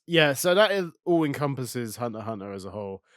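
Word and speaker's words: Hunter × Hunter: So it hunter ex Hunter or Hunter Hunter. I keep cuz everyone hears both because the people who don't know say hunter x hunter people who do know know that you don't pronounce the x.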